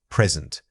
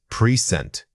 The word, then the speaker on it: present: One of the most common errors is misplacing the stress. Remember that if present means being here, the emphasis falls on the first syllable. If it refers to a gift, the emphasis shifts entirely to the second syllable.